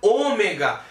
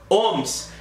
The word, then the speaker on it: ohm: Esse R aqui é a resistência elétrica que é dada na letra ômega. No entanto, como o autor da lei é Ohm, O-H-M, a gente não pronuncia ômega, a gente pronuncia ohms.